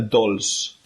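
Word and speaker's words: dolç: that so it's a dolls okay so like don't say so a little bit almost italian yeah dolls that's nice to finish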